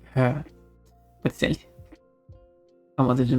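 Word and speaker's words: hö: What did you know that the Swedish word for? Hey, as in the grassy thing is her. I guess it's not pronounced exactly. It's more like her.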